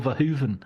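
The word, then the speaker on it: Verhoeven: I was told by a Dutch friend it's Paul Vahhooven and and then I'll I'll drop it into conversation.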